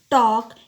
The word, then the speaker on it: talk: Look at the word talk here. L is silent.